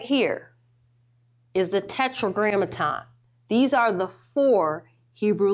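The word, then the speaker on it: Tetragrammaton: Tetra grammaton. The four Hebrew letters. All right. You just said it right there cuz tetro grammaton is four. This is this is fourletter word.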